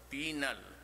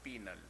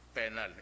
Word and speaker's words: penal: the leader Alamo siddhappa penal colony pronounce it as penal the penile its penal legal pronounce it as penal colony visitation day tapas big